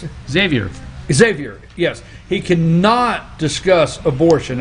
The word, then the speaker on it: Xavier: from california yeah he cannot answer how you pronounce it xavier xavier yes he cannot discuss abortion at all late